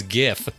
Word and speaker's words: GIF: to say you know it's actually pronounced GIF like the peanut butter but there was a whole backlash you know everyone went against them like no no you're wrong it's GIF so even the guy